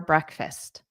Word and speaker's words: breakfast: So notice the pronunciation here. Breakfast. Da. So there's two sounds, fist. Not fast like a car. It's like this is a fist. Fist. Okay, that's the pronunciation. And then the syllable stress, we have dada, breakfast, dada, breakfast, breakfast.